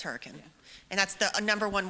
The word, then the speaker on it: Hurricane: So also, there's a town in West Virginia that's spelled hurricane. but it's hurricane.